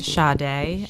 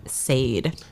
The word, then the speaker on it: Sade: when I discovered that her name is pronounced shade and not Sade I honestly don't know